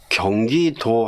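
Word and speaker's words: Gyeonggi-do: 자, 여기서 경기도 할 때 경기까지 문제가 없고 또 하이픈 다음에 도 있잖아요. DO. 예, 우리가 주로 이제 DO 쓰면 두라고 읽지만 여기서는 도죠, 도.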